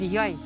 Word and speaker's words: йой: А тепер той самий звук по-гусульськи скажіть «йой». Йой. Я попробую. Це «ой». Так, а тепер «йой». Йой треба вимовляти так, якби вам було боляче.